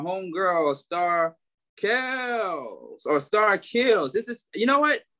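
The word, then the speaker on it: Keels: never corrected you because the powers spell so it's k-e-e-l-s but it's really kills star kills i didn't think it was chaos myself yeah people keep saying kills and i'm like kill its kills like keys but with the l keep kills kills so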